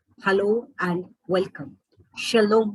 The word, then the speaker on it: shalom: saying hello and welcome shalom shalom that is how it is usually spoken in chinese language when